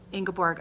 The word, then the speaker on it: Ingeborg: So thank you, Jakob, for leaving me a comment and letting me know that Ingeborg, of course, was correct, and that is how we pronounce your name.